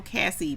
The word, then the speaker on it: Cassie: Oh, Cassie, pronounced like Lassie.